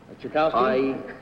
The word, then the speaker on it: Tchaikovsky: How would you pronounce the name T-C-H-A... Tchaikovsky?